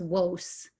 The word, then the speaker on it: Wos: then we know um the marowites heard and wrote that same name for isis as wos w-o-s so this may give us some idea of how the name was actually pronounced in this period of